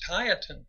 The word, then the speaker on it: Tieton: No, you can tell you ain't from around here. It's Tieton. Tieton. Okay, Tieton.